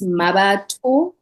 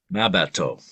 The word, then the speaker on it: Mmabatho: It's Mmabatho. So the THO is pronounced to and not Okay. to. Mmabatho.